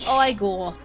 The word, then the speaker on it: Igor: No, Hey, it's pronounced Igor.